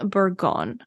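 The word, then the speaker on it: Bourgogne: also see the French word for this region buron which is spelled b o u r g o g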